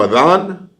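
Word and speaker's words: Adán: Adan. That's how they say it in Spanish. Adan. A D A N. He like, man, I'm Adam.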